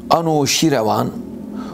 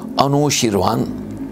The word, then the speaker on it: Anuşirevan: Anuşirevan, Anuşirvan veya Enuşirvan şeklinde de telaffuz edilmektedir.